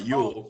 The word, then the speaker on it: Ewell: Ewell? You'll get my name right. How you say it? Yeah, you'll get my name right. Ewell.